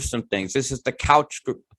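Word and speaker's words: Keutsch: things this is the couch well i imagine it's pronounced like my name coich group at harvard right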